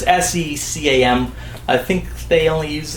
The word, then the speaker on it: SECAM: I don't know how you pronounce it, C-SCAM or CCAM. It's SECAM.